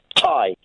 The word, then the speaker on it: Ty: As in round the neck, but spelt differently. Yeah, pronounce the name. Thailand? As in Thailand, as in tie round the neck, in tie yellow ribbon round the old oak tree.